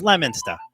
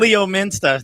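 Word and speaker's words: Leominster: miles west of boston it's la minster okay but leo minster yeah they say leo it's spelled leo listen you there's a lot of towns in massachusetts no lemon stuff pretend the o isn't even there okay lemon stir lemon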